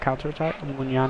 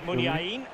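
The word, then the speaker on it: Muniain: Munyan has the ball. Munyain. Making excellent progress. I just pronounced it Munyan, though.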